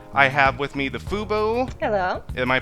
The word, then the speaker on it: Fuboo: in geek medium I have with me the fubo hello am I pronouncing that right yes yes you are uh